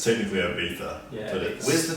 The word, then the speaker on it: Ibiza: It's technically Ibiza, Yeah, but Ibiza. Where's the TH? it's a silence said, but Silent it's spelled Ibiza, yeah.